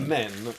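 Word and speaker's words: menhir: I thought men with a silent H.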